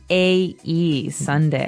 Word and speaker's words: sundae: as you can see the word is pronounced exactly like the day sunday but it has a different spelling in the end s-u-n-d-a-e sunday right so this is